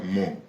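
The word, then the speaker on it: Hmong: entiendo que se pronuncia mon, que son esta familia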